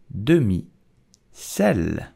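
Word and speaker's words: demi-sel: with jam and bread so how do you pronounce it correctly in French with a typical French accent you will say dummy cell did you know that salted butter in France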